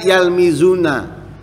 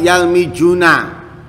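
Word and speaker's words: يلمزون: Dibaca za. Nanti waktunya za dibaca ja. Seperti apa contohnya? Yalmizun, artinya aslinya yalmizuna. Dibaca yalmijuna.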